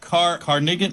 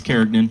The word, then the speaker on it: Carignan: Carnigan, how do you say it? It's Carignan. Carignan. Like it's so easy, right?